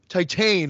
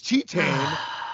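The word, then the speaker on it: Titane: which i've been uh pronouncing as titan all year uh it's tetan and that's my number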